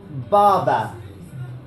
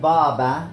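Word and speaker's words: båba: Now, I would put the dot on top of the A on the second. This is Baba, which is bad. This could really change the meaning of the word, obviously.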